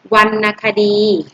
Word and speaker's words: วรรณคดี: อะไร มาตรา แม่ กน อ่ะ นะ คะ และ วรรณคดี อ่าน ว่า วรรณคดี วรรณคดี อ่าน ว่า วรรณคดี อ่า